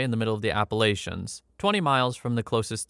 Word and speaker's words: Appalachians: just want to say I did read that comment that said I've been saying Appalachians wrong it's a regional thing I think I'm Canadian so I pronounce it the British way appalachin I think is a more I don't know American way of saying it so sorry it's